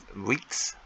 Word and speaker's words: Wix: so i was playing with um uh this week's i've been on wix how we pronounce weeks over the over the weekend and